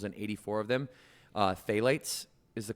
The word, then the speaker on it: phthalates: finding plastic chemicals and 84 of them uh phalates is the correct correct pronunciation of it or plasticizers as they've been